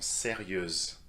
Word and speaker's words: sérieuse: Les étudiantes sont sérieuses. So simply add the z sound to make it feminine.